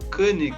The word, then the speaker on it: Konig: Pois é, a pronúncia no alemão mesmo seria algo como Koenig, mas eu nunca enchi o saco a esse respeito. Então, o pessoal fala Koenig direto, é tranquilo. Como se fosse um circunflexo Koenig mesmo,